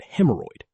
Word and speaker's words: hemorrhoid: Both RH and RRH are pronounced as a hard R, like in rhythm and hemorrhoid.